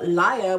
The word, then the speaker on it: Laia: So Laia, which is how they pronounce her name in the audiobook, so I'm pretty sure that's how you pronounce her name.